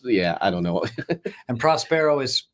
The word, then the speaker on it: Prospero: i don't know and prospero is spelled yeah it's uh it's like prosperous or pros prosper with an o at the end p-r-o-s-p-e-r-o okay all right